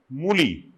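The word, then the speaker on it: Mullis: The PCR is a very basic thing which was discovered in 1983 by Carey Mooley. The spelling S is silent, Mooley is called Carey Mooley.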